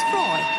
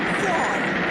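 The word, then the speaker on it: Froy: By the way, my name is Freud. Did you say Freud? No, Freud, not Freud. Freud. I'm sorry, I can't hear you. Freud. Rhymes with joy.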